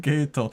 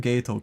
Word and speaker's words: Geto: Why are you pronouncing his name Geto? Cuz that's how they pronounced it in the sub. Oh yeah. Wait. it was very funny that they pronounce him like gay toe. Like toe on a foot and gay like the sexuality.